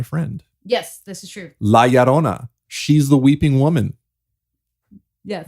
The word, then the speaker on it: La Llorona: La Llorona. She's the weeping woman. Yes. Did I say it right? Yeah. You're making fun of me. I aren't was you? trying not to. It's La Llorona.